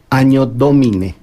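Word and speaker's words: Anno Domini: y en latín es Año Domine. Se escribe ano, doble N, pero es doble N. La doble N, cuando ya en las lenguas romances, como el castellano, tiene ya la prosodia de ñ, pero era el año del Señor.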